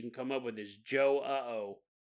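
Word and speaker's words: João: come up with is Joe uh oh Joe uh oh but then you have to pronounce the J like a sh a sh sh luckily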